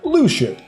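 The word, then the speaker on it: Luxu: And it's spelled L-U-X-U, and it's pronounced Lucio.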